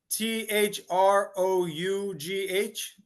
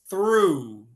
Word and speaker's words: through: same one how which which way do you spell it what um you are you talking about t h r o u g h this one here yes yes okay okay we we we pronounce it through through okay and yep and it sounds exactly